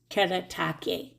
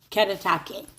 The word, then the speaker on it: Kuretake: artist that it's pronounced katake katake like a soft R katake and the gunai